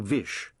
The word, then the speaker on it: Vish: His father had always addressed him by his full name, Vishwas, which the detective had later shortened to Vish, because it rhymes with wish, and Vish Puri could be taken to mean granter of wishes.